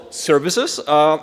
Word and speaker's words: SVCS: I want to tell you about my latest project that I'm legit excited about, and it's called Services. It's spelled SVCS because it looks cooler, it's shorter to type, and it was free on PyPI, which is the actual reason.